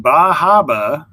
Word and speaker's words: Bar Harbor: vacation in maine and in bajaba which i've heard is how you pronounce bar harbor when you're visiting is where we will